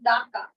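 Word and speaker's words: Dhaka: আচ্ছা ঢাকার উচ্চারণ কিন্তু ঢ না, হ্যাঁ, আমরা উচ্চারণ হচ্ছে ডি কে ওরা দ বলে, তাই না? তাহলে ডাকা, ঢাকাকে উচ্চারণ করা হচ্ছে ডাকা, ঠিক আছে?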